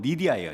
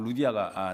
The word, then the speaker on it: 루디아: 헬라어로 루디아입니다. 근데 영어로는 리디아예요, 리디아.